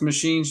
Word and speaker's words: MCHNZ: us up machines m-c-h-n-z it's spelled like that way and it's pronounced machines just like machines look us up we'll